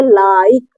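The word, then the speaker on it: like: इ लग गया तो एल आई के इसको पढ़ेंगे लिख क्या पढ़ेंगे लिख ठीक है अगर इ लग गया तो भले ही इसका उच्चारण ना होता हो लेकिन इसको पढ़ेंगे लाइक लाइक देखिए इसका प्रभाव इस आई पर पड़ा पड़ा और इस आई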